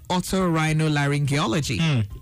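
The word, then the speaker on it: otorhinolaryngology: resume and she officially taught me how to pronounce the word auto rhino laryngology which is what she studied that's the word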